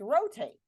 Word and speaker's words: rotate: Oh, it's rotate. That O is going to say O.